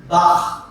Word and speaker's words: Bach: Petra, can we have you explain to everyone how you pronounce Bach? Bach.